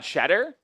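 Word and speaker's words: Tshetter: This will have foul is on Shedder? Talk about a way to spell Shedder, by the way. T S H E T T E R. It's European, but it's pronounced Shedder.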